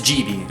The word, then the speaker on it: Gibi: Did I say Gibi or GB? Because it's GB, okay?